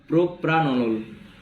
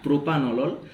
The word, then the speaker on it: propranolol: Beta beta ব্লকারের মধ্যে আছে পড়বো আমরা প্রোপ্রানলল। ঠিক আছে, এটা নট প্রোপানলল, এটা PRA আছে, তাই স্পেলিংটা ঠিকঠাক করে উচ্চারণ করবে। প্রোপ্রানলল, ঠিক আছে।